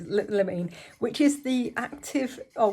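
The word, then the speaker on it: limonene: something called the limousine which i always called limousine but it isn't limousine my apartment spell it like that as well it's not how it is meant to be spelled it's lamene which is the active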